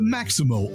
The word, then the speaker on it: Maxymo: The Maximo app, which is spelled Maxymo, it helps Uber, Lyft,